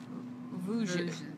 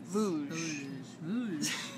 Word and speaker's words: Vosges: So, yes, this is, what did we say the pronunciation on this? Vosges. Vosges.